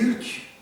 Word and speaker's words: Hulk: avait il y avait Hulk Hulk Hulk maintenant Alka on prononce Alka ouais c'est c'est un